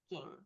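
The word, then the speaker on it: Ching: Group five is Aaron, Margaret, Kelly, and Ging. It sounds like a chin.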